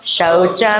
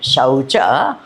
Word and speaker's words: शौच: दे चात्यंत निर्मल असंगो शौच में तक्षते ये शब्द जो है ना शौच तो आपको बराबर औ का प्रोनाउंस करना चाहिए नहीं शौच हो जाए शच शच शब्द का अर्थ बहुत अलग होता है शौच का अर्थ बहुत